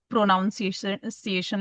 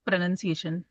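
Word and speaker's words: pronunciation: First it's प्रोनन्सिएशन first I earlier I used to से इट प्रोनाउंसिएशन like that something like that but इट इज़ प्रोनंसिएशन प्रोनंसिएशन।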